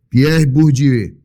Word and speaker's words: Pierre Bourdieu: E ele fez uma abordagem a respeito de Pierre Bourdieu. Pronunciei correto, João? Pierre Bourdieu.